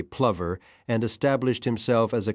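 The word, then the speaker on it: Plover: A confirmed bachelor, he wholeheartedly adopted Angloilia, began pronouncing his name the English way, Plver, and established himself as a country squire in a massive house full of servants.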